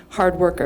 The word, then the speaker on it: HRDWRKER: the Los Angeles-based production company Hard Worker. Is that how you pronounce? Yeah, okay. Whose mission is to produce inspirational on-demand content. So I should say Hard Worker is actually spelled almost as an acronym, HRDWRKER.